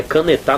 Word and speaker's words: caneta: canetar a pronúncia ficaria canetar não existe canetar ou é a penúltima caneta é a pronúncia que existe ou é antepenúltima né